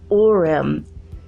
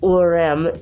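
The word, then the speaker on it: Ourem: Who took them by car to Villa Nova de Orem. It's spelled O-U-R-E-M, in case you want to look that up.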